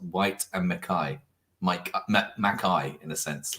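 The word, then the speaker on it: Whyte & Mackay: it before and someone's just said it's actually pronounced white and Mai mik maai in a sense like if you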